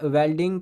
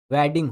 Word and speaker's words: वेडिंग: अगला क्वेश्चन देखिए यहाँ पर क्या है, सिल्वर वेल्डिंग कहानी के अनुसार, सिल्वर वेल्डिंग, ठीक है, यहाँ वेल्डिंग अगर मैं प्रोनाउंस हो रहा हो तो वो मिस्टेक, मतलब सही प्रोनाउंसिएशन नहीं है, वेडिंग होगा आपका, ठीक है, वेडिंग।